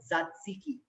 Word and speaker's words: tzatziki: and you make yourself tzatziki. I know it's a tongue twister Greek name. If you're sitting at home, repeat after me. Tzatziki. The first T is silent.